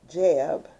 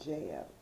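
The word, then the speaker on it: Geb: That's another twin soul pairing where it was Father Earth, which was Jeb, G-E-B, and then Newt, spelled like nut, but Newt.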